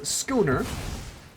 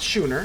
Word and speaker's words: schooner: go for make thisapp get rid of this Schooner Schooner not Sher again shout out to who I forgot who who it was but I I um someone in my shorts I pronounced it Scher I did not know it was skooner but